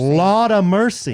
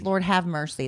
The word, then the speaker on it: Lord have mercy: You're not saying it right. It's Lord no. have mercy. Laud of mercy. It's Lord have mercy.